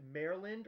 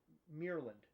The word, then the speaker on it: Maryland: So is it Maryland or Meerland? Maryland, because Okay, it's Maryland. spelled with an A.